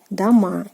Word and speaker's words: дома: And here it is made its plural form by makes its plural form by adding the "a" ending again, дома, and again stress falls on the "a".